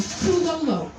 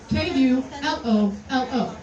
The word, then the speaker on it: Kulolo: One item is called Kulolo. Kulolo. 3 syllables? It's said how it's spelled, alright?